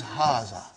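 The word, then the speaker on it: هذا: erase it ha see it is pronounced like ha huh but this Al if is not written huh it is explained in the key also so it is haah okay haah means this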